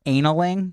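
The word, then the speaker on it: annealing: I think this means I think this is pronounced a nalang it's a NN e al ing and I believe that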